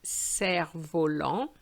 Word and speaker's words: cerf-volant: So the first one is un cerf-volant. And the second one is une clé. You will notice that I haven't pronounced the F In my previous video,